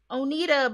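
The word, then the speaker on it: Oneida: at oh oh neither o n e i d o onita yeah i believe this is oda that's how you say it onita but then somehow you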